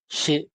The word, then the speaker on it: je: Atau enggak misalkan kalau bahasa Perancisnya aku itu atau saya itu je, je. Ntar aku tulis di chat. Je. Itu bacanya je. J, E. J, E. Atau J, E. Bacanya je.